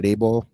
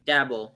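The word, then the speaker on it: Daboll: shout out to brian dayball am i saying that right dabble dabble i don't know i could be wrong too i thought it was the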